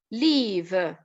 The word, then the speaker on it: leave: to leave to quit pay attention at the level of pronunciation here okay okay here leave long e and live to live